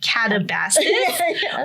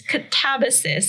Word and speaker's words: Katabasis: I keep wanting to say catabasis, but apparently it's catabasis, and it's Greek, which means descent or journey downward.